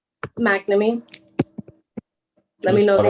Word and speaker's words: McNamee: McNamee. Let me know if you want me to spell it. McNamee.